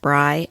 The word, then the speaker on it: Bri: If you ever see the spelling, it's a bit confusing, so it's pronounced Bri, like sky.